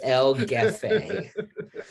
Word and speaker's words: El Jefe: Listen, it's El Gefe.